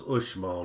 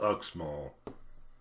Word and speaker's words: Uxmal: as you might have already gathered the correct pronunciation of the word is ushmall not ugh small what i've visited small in 1970 they were